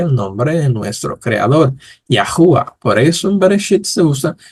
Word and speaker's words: Yahuah: es que nosotros decimos que su nombre es yahua que es el nombre de nuestro creador recuérdense